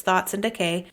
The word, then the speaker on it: Thoughts X Decay: book thoughts and Decay it's spelled thoughts X Decay but it's thoughts and Decay and pick up a